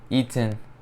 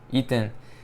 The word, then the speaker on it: Ethan: time saying my name pronouncing the th in my name i i always grew up saying eaten ethan i say quick but